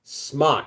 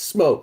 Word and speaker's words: SMOK: It's actually pronounced Smock. Now it's smoke. There's no E at the end of it.